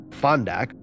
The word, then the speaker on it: Fondak: Fondak. This originates from an Arabic word pronounced funduk.